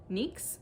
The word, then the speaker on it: Nyx: Moonstruck knits and um it's called NYX Nicks it's and Nyx so I'm pronouncing it NYX and it makes me